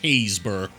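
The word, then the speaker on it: Happisburgh: S B U R G H and it's pronounced Hazeburg.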